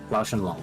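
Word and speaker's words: Lao-Shan Lung: The Lao Shen Lung, I think is how you pronounce it. Lao Shen Long? Lao Shen Lung, yeah.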